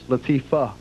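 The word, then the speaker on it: Latifah: what did I say Latifa and it is Latifa okay you wish it was you wish it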